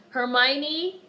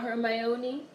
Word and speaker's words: Hermione: Rocket oh my god Hermione not her my Oni I think black folks